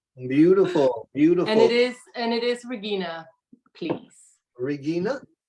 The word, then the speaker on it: Regina: And it is Regina, please. Regina? Yes, in the German pronunciation, or as German as people can handle.